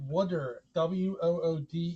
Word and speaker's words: water: But unfortunately, because I'm from Philadelphia, we pronounce it wooder, Wooder.